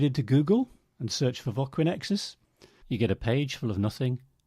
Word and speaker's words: Voquinexus: And so I'll give them the card and they'll go, Voqui, and I say Voquinexus.